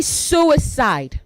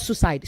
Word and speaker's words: suicide: Say suicide, not suicide. Suicide. There are 3 syllables.